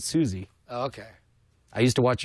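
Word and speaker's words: Suze: you sure it's not Suz I it's spelled s u Ze but she pronounces it Susie okay I used to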